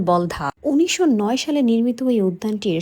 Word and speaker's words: বলধা: অনেকেই বাগানটিকে বলদা নামে সম্বোধন করলেও এর আসল উচ্চারণ বলধা।